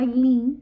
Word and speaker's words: Eileen: libro estaba mi nombre Mi nombre se escribe esa Aylin pero se escribe eil22n no entonces el Señor